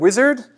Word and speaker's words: Uizard: So yeah, the product we've been building is called Uizard. And to take the awkward first thing first, is pronounced wizard, but it's spelled with a U.